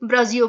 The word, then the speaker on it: Brasil: एस का sound जो है वो जा का प्रोड्यूस होता है। जो पुर्तगीज में ब्राजील की स्पेलिंग है वो भी BRASIL, तो वो ब्राजियो पढ़ते हैं।